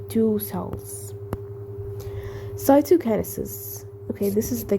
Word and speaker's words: cytokinesis: be separated okay and becoming like two cells cytokinesis okay this is the correct pronunciation I know right now cytokinesis is the